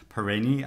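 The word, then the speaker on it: Peirene: really interesting novels and you do pronounce the name of the the press paranee um there's that there's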